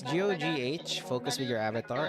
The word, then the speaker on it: Gogh: It's GOGH. Focus with your avatar. I pronounce it as Go, like Van Gogh.